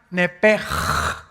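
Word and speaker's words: נפש: La palabra, la letra o las letras s h en el hebreo se pronuncian en hebreo como j. Entonces, se pronuncia nepej.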